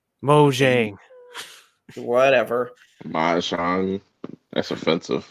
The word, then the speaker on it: Mojang: new live-action game titled everwild in 2014 uh mahjong mojang whatever my song that's offensive mojang what is